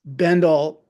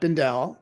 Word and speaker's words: Bendel: run of his store that's Bendle uh not Bendell and Henry not onri